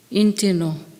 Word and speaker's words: Injinoo: In our language tongue, Injinoo is pronounced Intino, which is a brown snake story place.